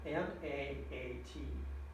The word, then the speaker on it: Ma'at: It's spelled M-A-A-T, Ma'at, right?